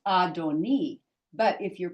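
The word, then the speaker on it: אֲדֹנִי: and here you've got this hi so it's pronounced adoni but if you're pronouncing when you're talking to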